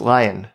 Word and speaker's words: Lyon: looks like it's pronounced lil like the city in france but it's actually pronounced lion like in william lyon mackenzie king 10th prime minister of